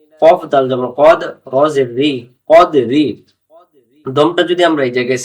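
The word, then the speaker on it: قدر: জায়গায় ছেড়ে দেই তাহলে আমরা কদরি পড়তে পারবো না কদ্র কদ্র কদ্র আমরা এটাকে অনেকে কাদরি পড়িনা কাদরি কাদরি পড়লে এই কফ অক্ষরটা তখন এই কাফ অক্ষর হয়ে যাবে কাফ জবর কাফ জবর কফ উচ্চারণ হবে এমন করে পরের আয়াত প্রথম আয়াতের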